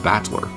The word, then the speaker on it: Battler: far the problem is my own name is made up with the characters for fight in person and it's pronounced in battler put it all together